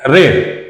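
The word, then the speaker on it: read: की एकत्रच घेतलेला आहे आय रेड स्पेलिंग स्पेलिंग सारखा आहे उच्चार फक्त वेगळा आहे आय रेड म्हणजे मी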